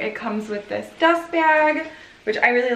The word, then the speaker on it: Bea: just feel like this bag is so pretty it's so like it is literally its name b smooth but b is spelled b e a like beatrice but it's b um i love this